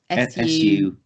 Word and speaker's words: Suhui: Soohui, a Chinese poet from the 4th century. Oh, okay. Era. And it's spelled quite phonetically, so it's S-U-H-U-I. SUHUI.